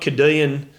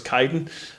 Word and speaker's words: Caden: Young Billy Power at 7, but Caden, not Cadean Nathan Warren, as you pronounced him on the Devil's Day, but I'm pretty sure it's Caden.